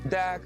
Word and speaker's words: Deák: So it's called Deak Square, which is spelled like D-E-A-K.